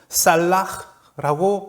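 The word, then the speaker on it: סלח: 그것은 살라흐라고 발음하는 동사입니다.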